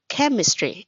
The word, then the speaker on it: chemistry: Yes, that's chemistry. Yes, chem, not chem. Okay, so chemistry.